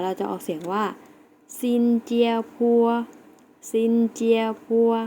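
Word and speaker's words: 新加坡: สิงคโปร์ นะ คะ เรา จะ ออก เสียง ว่า ซินเจีย ครัว ซินเจีย ๆ แล้ว ออก เสียง สิ คะ เก่ง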